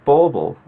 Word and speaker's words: bauble: that bubble is pronounced bauble.